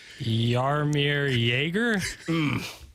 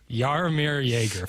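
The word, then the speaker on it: Jaromír Jágr: That J in front definitely isn't a J. So I'm going to say it's a Y. Yarmir Joerger. Yarmir Joerger.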